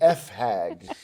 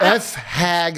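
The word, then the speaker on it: fag hag: for Pride it's uh it rhymes with hag and you rhyme it with a some an F hag so he meets a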